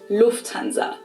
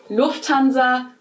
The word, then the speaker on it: Lufthansa: In English, people usually say Lufthansa, but in German, we say Lufthansa. So the emphasis is on the first syllable. Lufthansa versus Lufthansa.